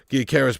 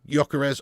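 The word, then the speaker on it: Gyökeres: Gyokeres pronounced Gyokeres. Yes, I know. I've already said that, mate. I've already said that. I just seem to go between Gyokeres and Gyokeres. Okay, mate?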